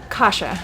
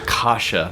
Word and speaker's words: Kasia: Okay, I'm going to need you to pronounce your name because I butchered it earlier and I don't want to do it again. Kasia. Kasia, there we go.